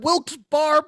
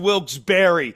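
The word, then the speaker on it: Wilkes-Barre: If it wasn't for these people in Wilsbar, Pennsylvania, we wouldn't be getting a paycheck this week. Sir, I love this town so much. I know it's pronounced Wilsberry.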